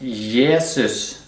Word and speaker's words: Jesus: of 5 05 05 Jesus in Norwegian is pronounced yeses which is the actually